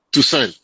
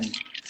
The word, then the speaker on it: Toussaint: Toussaint, Tuset. Toussaint. Sí, es un nombre francés. Tusen.